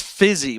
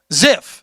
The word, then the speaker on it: Zipf: I think it's fizzy, but it's spelled like p f i z y. Zipf.